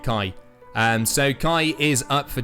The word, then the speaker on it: Kai: Ross just said, how is Kai pronounced? That's how we're pronouncing it, Kai.